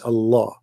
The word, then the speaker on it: Allah: to do the same it's just you have to say the L twice Allah you know Alman right